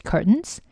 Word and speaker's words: curtains: curtains 발음이 조금 어려운데 curtain하고 발음되시면 curtains. 그래서 트 사운드는 미국식 영어에서는 조금 발음을 기피하는 경향이 있어요. 그래서 curtains 이렇게 발음은 거의 들리지 않아요. 원어민들은 그렇게 발음을 하지 않고 curtains라고 하기 때문에 연습을 조금